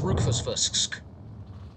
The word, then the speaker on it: Rufus Fisk: fisks is right there that that's how you pronounce rwq fsfas XC it's Rufus Fisk it's a bit of a tongue twister or we could just